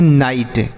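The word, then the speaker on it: knight: इसे हम पढ़ती है नाइट। क्या पढ़ते हैं सर? नाइट। नाइट का मतलब होता है देखिए यहां पर के साइलेंट है। इसको नहीं पढ़ेंगे।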